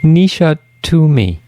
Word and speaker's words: Nisha Toomey: And so here we are, and I'm going to let listeners know a little bit about our guest, Nisha Toomey.